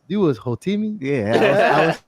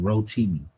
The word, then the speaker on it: Rotimi: And I think you was Hotimi. I was Hotimi, yes. I was the Hotimi, yes, sir. And I think I pronounced his name wrong. Rotimi.